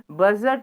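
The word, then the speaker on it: budget: हम देख रहे हैं बजट में यहां पर दी साइलेंट है यहां पर एल साइलेंट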